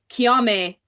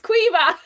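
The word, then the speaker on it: Caoimhe: with Kiame or Kiame, like it's Quiva. Oh my god, we were talking about this the other day and we were like, and we didn't even notice, like till we spoke to Chloe, we're like, oh, she really pronunciates the qui, and we're like, oh, we've real fucked up. We're saying like Eva.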